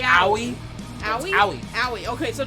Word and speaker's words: Aoi: It's Aoi. Aoi? Aoi. Aoi. Okay, so just Aoi. Aoi, okay. Aoi Atkinson.